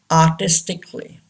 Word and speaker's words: artistically: It should be silent. For examples, artistically. Yes, we don't pronounce a.